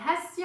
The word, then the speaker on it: Hasti: Je m'appelle Hasty en persan et Asti en français. Je ne sais pas si vous le savez, mais on ne prononce pas le H en français.